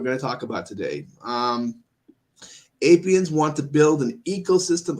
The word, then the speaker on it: Apiens: It's like Apians. It's spelled APIENS.